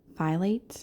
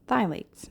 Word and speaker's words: phthalates: i'm so sorry you guys i've been saying phylates instead of phthalates so to be clear it is pronounced phthalates not violates i had known for a little